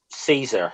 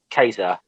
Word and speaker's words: Caesar: yeah it would be same with like people say like um caesar or whatever it would be cater and and and and